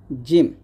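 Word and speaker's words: جيم: মত হবে না অথবা জিমের মত হবে না। এটা বলতে হবে জ এরকম। আর জিমটা কিন্তু কোন দাতেই লাগবে না। জিমের মাখা জিহ্বার মধ্যখান উপর তালের সঙ্গে লাগবে। জিম।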